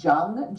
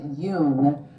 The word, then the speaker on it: Jung: um it's spelled like like it would sound Jung J G but people pronounce it Yung like y o o n g but he's